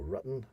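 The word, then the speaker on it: Ruten: of Alpine pagan origin, known as a rutan. A rutan? A rutan. Spelled R-U-T-E-N. Or rutten. Rutten, okay. Rutan. I'll pronounce it rutan.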